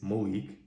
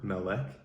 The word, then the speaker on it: Melek: It's M-E-L-E-K. The American pronunciation is Malik. I respond to Malik. You will hear most people calling me Malik. But my mother says Melek when she is expressing deep love, frustration, she really wants me to listen, or she's upset with me. She says Melek. She also calls me Malik, though.